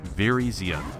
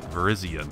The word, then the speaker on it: Virizion: Virizion. Virizion. That rhymes with Viridian, which I'm sure is maybe what your color is based on.